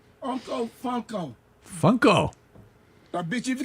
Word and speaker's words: Funko: It rhymes with uncle. Funko. Fuckle. No, Funko. Funko.